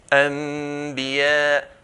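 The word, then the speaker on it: أنبياء: So Nun meets a Ba. The Nun will change into a Mim. Anbiya. Anbiya.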